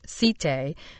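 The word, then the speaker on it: site: lent area of Istanbul called cite pronounced as the French cite provided a complete living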